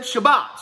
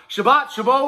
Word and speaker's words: Chabot: That's not how you pronounce his name. Look, I saw the phonetic spelling. It said Shabbat, so I call him Shabbat. Chabot, whatever the hell his last name is.